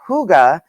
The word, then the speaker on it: hygge: florals and nature elements pronounced hygge the scandinavian concept of hygge sounds just like a warm friendly hug the 60 16th century